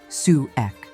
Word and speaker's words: souk: Every week, almost every Egyptian village or small town comes alive with its local farmer market known as a souk, pronounced sue ek.